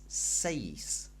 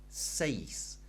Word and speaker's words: seis: we can remember that the pronunciation of e in Spanish is like an a Y sound remember I told you